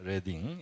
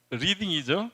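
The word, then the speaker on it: Reading: 리딩이죠. 그래서 우리 지도책에 보니까 리딩이라고 번역을 했는데 이거는 고유 명사예요.이 지명.이 도시는 레딩이라고 읽습니다.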